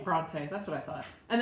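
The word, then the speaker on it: Brontë: Bronte? Bronte, that's what I thought.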